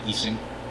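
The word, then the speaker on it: Ising: it uh the exact native problem is called eing E or iing model depending on your pronunciation and these are things like employee scheduling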